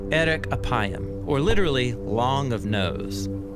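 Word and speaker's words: ארך אפים: in Hebrew the phrase slow to anger is pronounced Eric aayam or literally long of nose but what does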